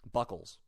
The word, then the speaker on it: Buchholz: How do you pronounce it? Buchholz.